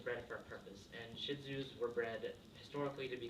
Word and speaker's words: Shih Tzu: like owning one personal so what is a shih tzu well I should do is a toy sized